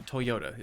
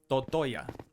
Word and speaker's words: Toyota: Uh, Toyota is the proper pronunciation on that, but I'm never serious. I would recommend Toytoya.